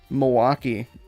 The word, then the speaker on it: Milwaukee: No, it's actually, so Milwaukee, you say it like kind of like there's not much of an L, but we're all right.